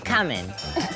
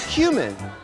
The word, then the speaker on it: cumin: And Jocelyn Fox's Teresa Giudice will always make us think twice about how to pronounce cumin. It's flavored with blank. Coming. Oh, you mean cumin.